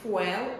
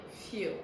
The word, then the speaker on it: fuel: So I hope from now on, if you were pronouncing the word fuel, you'll stop and start pronouncing it fuel.